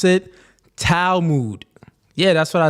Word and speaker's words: Talmud: None of y'all know how to spell it or pronounce it. Talmud.